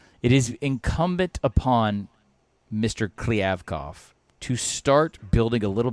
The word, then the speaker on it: Kliavkoff: But Alex, what's the dude's name that I mispronounced? Who are we talking about? Which one? Pac-12 commissioner. Oh, George Kliavkoff. Kliavkoff. No, you just say it so I can say George it. George Kliavkoff.